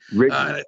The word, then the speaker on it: Righi: We're talking with Righi. How do you say it again? I'm Riggy, sorry, Righi. Riggy, Riggy.